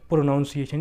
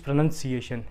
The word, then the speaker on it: pronunciation: words another word we have is pronunciation it's not pronunciation it's pronunciation in another word we have